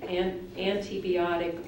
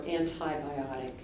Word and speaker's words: antibiotic: Now your word can be pronounced two different ways, and I'm going to give you both antibiotic or antibiotic.